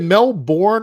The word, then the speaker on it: Melbourne: Is it Melbourne or Melbourne? How do you Americans say it Melbourne, but it's just Melbourne. So like Melbourne. Say Melbourne. Melbourne. Like Melbourne. That? Yeah, Melbourne. Okay. Like that's how you say it. But because it's spelled Melbourne, Americans come in and they go, "Hey, you going down to Melbourne?"